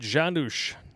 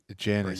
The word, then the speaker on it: Janusz: Richard Janusz will never again breathe as a free man. What is it? What is his last name? Janusz. Janice. Or Janus. I think it's pronounced Janusz. Okay.